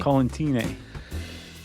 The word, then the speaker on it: Collentine: No, I think she corrected us and said it was like Valentine. Oh, right. So I think I'm saying it right. Man, Mona's going to be so mad at me. Collentine.